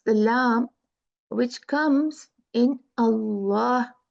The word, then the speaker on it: Allah: you know in uh normally when we talk in our everyday talk like Allah or something we can say Allah but Allah is the right pronunciation when we recite the Quran and this is not